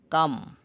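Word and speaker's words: calm: এরপর এম এরপর থাকলে এল প্লাস এম থাকলে পরে ভাওয়েল না থাকলে এল অনুচ্চারিত থাকে যেমন কাম কাম এল এর উচ্চারণ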